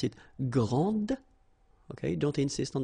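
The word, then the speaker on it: grande: So, gr and then same thing here. And regarding the feminine form, you will pronounce it grand. Okay? Okay, don't insist on the final but then pronounce this d and then exactly the same pronunciation grand.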